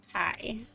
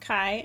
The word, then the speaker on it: Kai: Um, so the male is going to be named Kai. I always thought that was pronounced K, but it's pronounced Kai.